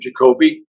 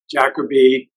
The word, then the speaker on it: Jacoby: you for having me I actually pronounced my name jacobe a lot of people pronounce it jacobe um it's be becoming